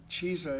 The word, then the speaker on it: Chisa: Cheese. Is that how you pronounce it? Chisa? Chisa.